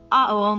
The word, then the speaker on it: Aum: his throat, while he pronounces the word Aum with the vowel A.